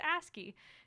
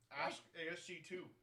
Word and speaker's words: ASCII: to dress nicely Joseph you don't know how to pronounce ASCII asg2 well no it's an ASCII file right Chad says I'm right I'll be right that's